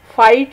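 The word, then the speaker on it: fight: की आवाज़ साइलेंट है, फाइट में जी और एच साइलेंट है, रेसल में डब्ल्यू और टी, और डॉटर में जी और एच, और नाइट में के और जी एच।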